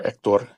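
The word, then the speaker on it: Héctor: So Hector Balderas, or Hector, if I'm going to say it properly, he was the AG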